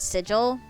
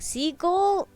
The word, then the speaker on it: sigil: trouble saying the word sigil English is not her first language her first language is Taiwanese and so she kept saying like in trying to pronounce that she kept saying Siegel SiC Siegel I know